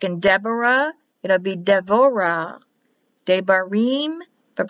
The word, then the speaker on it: Devorah: Without the dot, it's written as a B, but pronounced as a V. Like in Deborah, it'll be Devorah.